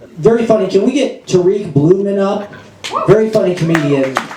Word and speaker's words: Tariq: ] have him because I pronounce it Tariq uh Tariq not Tariq uh because I'm from a civilized country called the UK um you know the